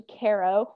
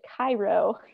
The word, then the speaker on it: Cairo: the way down to Caro, which is the tip of Illinois. And one fun fact is if you pronounce it Cairo, you'll be ousted by locals knowing that you are a non-local.